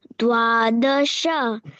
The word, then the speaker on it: द्वादश: एकादश एकादश दश दश द्वादशः दश केवल नहीं दशह नहीं बेटा विसर्ग नहीं है पीछे द्वादश द्वादश त्रयोदश त्रयोदश